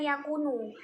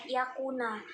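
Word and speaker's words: يكونَ: Nah, yang salah menurut saya adalah Bapak itu membacanya yakunu. Nah, yang benar itu adalah yakuna. Nah, mengapa? Karena yakuna di sini itu merupakan fi'il mudorik, seperti itu, dan beri'rob nasab. Makanya dia itu harus berharokat fathah gitu. Jadi dibaca yakuna, bukan yakunu, seperti itu.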